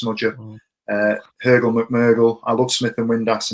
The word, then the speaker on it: Röhl McMurgle: I've just realised that's Röhl McMurgle and not Röhl McGurgle, as Ash has called him every single time he's commented.